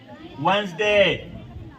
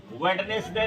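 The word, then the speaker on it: Wednesday: वेनेसडे। वेडनेसडे नहीं पढ़ा जाता है। स्पेलिंग याद कर लो। वेयर द नेक्स्ट डे लेकिन पढ़ा जाता है वंस बीच के शब्द गायब हो जाते हैं।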